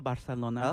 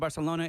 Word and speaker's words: Barcelona: Conozco a Barcelona.